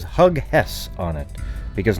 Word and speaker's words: Hughes: I'm going to make a t-shirt now that says Hug Hess on it, because nobody's ever seen the name Hughes before, and therefore, because you haven't seen it before, you immediately pronounce it Hug Hess.